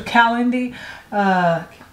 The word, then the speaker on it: Calendly: Am I pronouncing that right? Okay, so Calendly. Yeah, I think that's how you pronounce it.